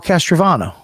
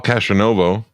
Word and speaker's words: Castronovo: Paul Castrovano. You should learn how to say his name first. What'd I say? It's Paul Castronovo. I mean, that's what I said. Castronovo. You said Castrovano.